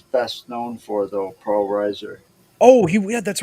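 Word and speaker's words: Reiser: seen his uh the actor um Paul R Riser I'm hoping I'm pronouncing that right Riser yes Paul Riser Paul Riser yes I've the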